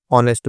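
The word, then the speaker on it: honest: वाज मतलब था, very मतलब बहुत, ऑनेस्ट दोस्तों उसको एच साइलेंट इसमें दोस्तों ऑनेस्ट पढ़ेंगे इसको।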